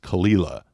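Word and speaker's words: Caol Ila: a o l space i l a yes kalila is how they pronounce that so it's just going to take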